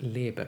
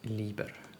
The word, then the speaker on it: Lieber: commissary um yeah but that name will be pronounced labor in German not Lieber as Kerala keeps pronouncing it anyway tell me about